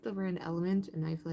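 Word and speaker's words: LMNT: It's It's pronounced like element. It's L M N T.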